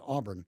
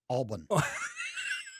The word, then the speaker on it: Auburn: And by the way, in the south it's not pronounced Auburn, it's pronounced Alburn.